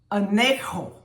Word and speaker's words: anecho: And in the New American Standard, the word that is used for tolerate, the Greek word is anecho. A-N-E-K-H-O. This is the phonetic pronunciation.